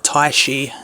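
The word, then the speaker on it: 太一: And here is the figure at the box, featuring Tai and Agumon, or Taishi as he's pronounced in Japanese.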